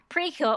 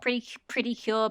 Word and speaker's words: Precure: want to call it, it's technically it was called Pretty Cure, but then the way Japanese syllables, they sort of kind of meshed it together, and now it's Precure and whatever.